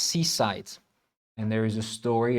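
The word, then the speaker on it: CSIDH: So the C is for commutive is pronounced seasite.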